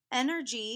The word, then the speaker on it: energy: couple times it's energy energy has a soft G sound that sounds like a because it's followed by a Y whenever a G is